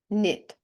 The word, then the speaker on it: knit: кн Night No New not knit чому ми не читаємо літеру е в цьому випадку Чому тільки н Справа в тому що